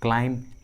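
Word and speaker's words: climb: Trick के अनुसार B silent होगा, बी का उच्चारण नहीं करेंगे। देखिए सभी इंग्लिश वर्ड्स में कॉम, बॉम, टॉम, थम, क्लाइम, लीम, डम, इन सभी इंग्लिश वर्ड्स में बी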